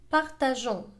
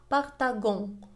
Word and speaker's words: partageons: الصوت كما هو lançons partageons. لأننا في هذه الحالة إذا لم نضيف la CD سينطق lançons وهذا خطأ. كذلك إذا لم نضيف E فإنها ستنطق partagon وهذا خطأ.